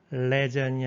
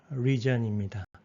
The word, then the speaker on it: region: legion이 아니라 region입니다.